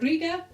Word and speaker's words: Riga: home from Riga it's how you say it Riga Riga we are really tired so what we